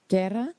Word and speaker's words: Guerra: Guerra? Yeah, thank you. You roll your R's much better than I do.